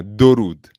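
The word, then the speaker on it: درود: Durud.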